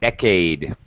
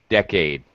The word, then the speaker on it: decade: uh uh uh pronunciation decade okay decade uh it was decade decade it's second syllable stress okay all right you